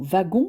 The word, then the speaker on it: wagon: Et la lettre W se prononce V, comme dans le mot wagon, c'est-à-dire dans des mots d'origine allemande, ou bien se prononce